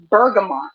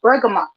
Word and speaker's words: bergamot: that's the first one the second one is bergamot and that's b e r g a m o t burgama bergamot is a citrus um it comes from